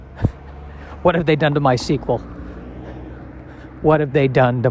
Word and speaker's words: MySQL: is how to spell my sequel it's i believe mysql but i believe it is pronounced my sequel as if it was spelled uh s-e-q-u-e-l and i don't know